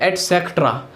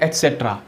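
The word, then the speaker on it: et cetera: गलती कर देते हैं, इसमें क्या बोलते हैं एटसेक्ट्रा, एटसेक्ट्रा बोल देते हैं जो कि गलत है, बिल्कुल सही है आदि के लिए एटसेट्रा, कैसे ऐसे देखिए एटसेट्रा, एटसेट्रा आदि, ठीक है एटसेट्रा।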